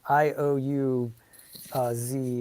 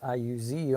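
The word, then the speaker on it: Iuz: some reason I thought it was like IO U uh Z but apparently it's IU Z on the greyhawk map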